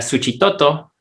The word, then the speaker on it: Suchitoto: le dice en xochimilco aunque tiene la equis ahí se ha convertido en ese sonido de ese igual que xóchitl en la bolsa de totopos y un ejemplo aquí para el salvador es suchitoto que aquí se ha